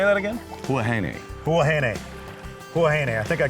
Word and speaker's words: Huahine: Huahine.